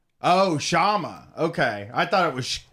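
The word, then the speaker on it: Kshama: You're talking to Dave from Seattle that can give you an update on the Shama campaign. And remember, the K is silent. Oh, Shama. Okay. I thought it was Kashama.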